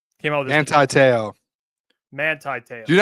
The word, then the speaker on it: Manti Te'o: Did you just call him Monty Te'o? Monty Te'o. We were just because I pronounced the man's name wrong. All right, one of the greatest linebackers.